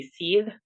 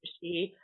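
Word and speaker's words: sidhe: pronunciation for it um which would be see instead of she but it was a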